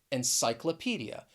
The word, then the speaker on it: encyclopedia: it's a longer word it has six syllables and i think it's a great example of a word in which you really pronounce each syllable and i think you should be able to hear all six of them when i say encyclopedia and cyclopedia it ends with that schwa sound encyclopedia so it's a